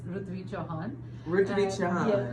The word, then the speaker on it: Rutvi Chauhan: yes you were pretty close to the actual pronunciation it's rut Chan I don't want to correct you when you